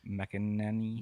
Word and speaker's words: McElhenney: McElhenney.